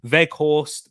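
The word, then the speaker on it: Weghorst: july root vet veg root veghorst because he's dutch they pronounced their w's with v's they caused um wolfsburg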